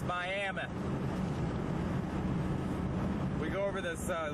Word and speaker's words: Miami: not coming into Miami Miami Oklahoma which they pronounce Miami we go over this